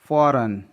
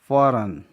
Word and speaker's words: foreign: फॉरेन, FOREIGN. जी के बाद एन है इसलिए जी साइलेंट है, उसका प्रोनाउंसिएशन नहीं हुआ है. फॉरेन.